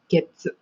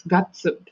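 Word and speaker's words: 月: how we use week, except that we use Getsu. Mm-hmm. Remember, we don't use Gatsu for this one when you are referring to like 2 months ago or this month or next month. When it comes to like January, February, March, that one you refer as Gatsu.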